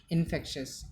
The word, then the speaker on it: infectious: Infectious. It is an adjective. The pronunciation of the word is infectious.